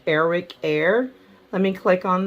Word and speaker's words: Arik: the ticket scam alert Eric is spelled aart i k so it's Eric air that is a Nigerian